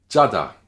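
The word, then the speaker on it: 짜다: Jada, jada, jada, qui veut dire être salé ou être avare, selon le contexte, bien sûr. Le sangjiut initial, tendu, sec, brusque.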